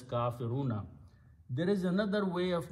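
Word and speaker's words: كافرون: of making the plural you just add a wow and a noon at the end and pronounce as kafiruna there is another way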